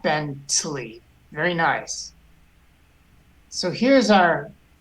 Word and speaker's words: Bentley: The shva just goes by very quickly, but it is pronounced. There's some air that comes out on the shva. Bentley.